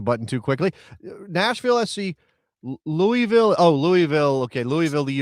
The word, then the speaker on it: Louisville: It's Louisville. You don't say Louisville, you say Louisville. It's not Lewis Vile?